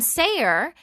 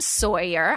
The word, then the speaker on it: Sayer: My son Sayer is just Sayer. Like, I'm like, you know what? We are going to really sound this out phonetically here, right? So everyone calls him Sawyer. I'm like, do you see a W? Do you see, or Soyer or some crazy French thing or something?